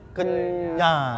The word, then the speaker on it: Kenjang: Y-nya ganti J gitu loh, Kenjang. Kenjang. Tapi dibacanya Kenyang.